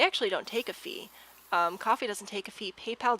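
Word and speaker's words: Ko-fi: get to work uh what is coffee so coffee is actually spelled like this and it's um it's basically a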